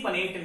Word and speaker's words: Punnett: कहीं कहीं किताबों पर पुनेट लिखा होता है, पुनेट हो या पनेट हो, कोई अलग अलग प्रोनाउंसिएशन कर सकता है, तो आपको कंफ्यूजन नहीं